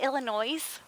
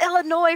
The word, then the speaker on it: Illinois: So my other coworker would always say, Illinois. And Barb would go, it's Illinois, for God's sake. There's no, the S is silent.